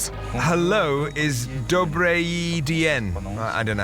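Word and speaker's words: Добрый день: Hello, is Dobry dyen. I don't know how to pronounce that. Dobry dyen.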